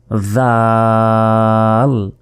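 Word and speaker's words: ذال: এরপর জিহ্বা বের করে, এই অক্ষরটি উচ্চারণ করার সময়ও আপনাদেরকে জিহ্বা বের করে উচ্চারণ করতে হবে। জাল, জাল। জিহ্বা না বের করলে কিন্তু এই অক্ষরের উচ্চারণ, সঠিক উচ্চারণ কিন্তু হবে না, এটা মনে রাখতে হবে।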